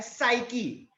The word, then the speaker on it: psyche: तो Greek word आपको याद रखना है साइकी। अब साइकी का स्पेलिंग PSYCHE, वापस रिपीट कर रहा हूं, साइकी का स्पेलिंग PSYCHE बराबर है।